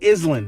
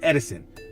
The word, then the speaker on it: Edison: My address, it's actually Island, not Edison."